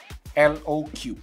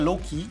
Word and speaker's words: LOQ: so ini dia Lenovo loq low Cu nah seri loku ini atau bacanya Loki ya hadir karena kayaknya lenov